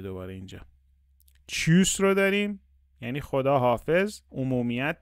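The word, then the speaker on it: Tschüss: بریم بخوابیم شب بخیره چوس داریم ببین تی اس سی اچ رو داریم صدای چ میده دوباره اینجا چیوس رو داریم یعنی خداحافظ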